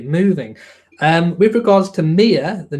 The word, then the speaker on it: Mia: did pronounce it the same way that I pronounce it which was Mia Mia Tindall so that is the correct pronunciation of